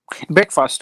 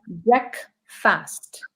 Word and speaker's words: breakfast: Breakfast I had. Good. Shehwani, what's the first meal of the day? Same breakfast. Okay. It's pronounced as breakfast.